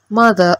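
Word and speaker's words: mother: മദർ എന്നാണ്. ആറ് silent ആണ്.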